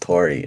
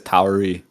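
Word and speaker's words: Tauri: into next js too oh it's pronounced tori oh i see i i i've been singing it wrong i know all right like founder says towery because he's you know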